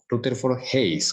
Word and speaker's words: Rutherford Hayes: mucha ayuda por acá rutherford se pronuncia rutherford hayes router fort hays con el listo hayes